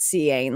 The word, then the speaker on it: Cian: I actually know someone that spells it Cian, like CIAN. That's also a way to spell Sean. I think it's the Irish way of spelling Sean.